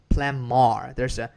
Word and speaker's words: plumber: They pronounce plumber. Instead of B sound, they say M sound, right?